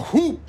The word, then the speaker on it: whoop: shout out sir but I actually don't pronounce the h in whoop sir all the uniformed officers just left they're staging a walkout well it seems I was wrong so hoop is Big after all